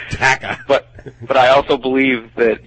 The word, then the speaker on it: Dakka: That is pronounced Dakka.